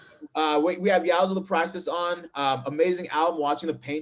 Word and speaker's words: Yzal The Praxis: So I want to welcome Yzal the Praxis. Did I pronounce that correctly, by the way?